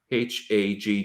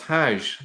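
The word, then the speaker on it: Hajj: the word is hag h a g g now in in Arabic it's Haj but actually if you go to places like Yemen and go to Egypt they still pronounce that as hag exactly and you can see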